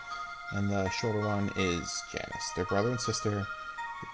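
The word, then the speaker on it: Janus: Yes, Janice. I've heard people pronounce it Yanus. I mean, come on. Is that like Latin or whatever? No, he he's Janice.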